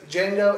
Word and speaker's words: Django: Django is a movie where all the cameos work for me. I never get distracted. I mean, The Franco Nero cameo was DJANGO. So The D is silent.